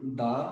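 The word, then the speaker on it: the: জানলাম যে তোমার আর্টিকেলস যে আমরা পড়ি এন দা অর দি তোমরা নিশ্চয়ই জানো যে দি টি এইচ ই এর উচ্চারণটা কখনো দা হয় কখনো দি হয় এটা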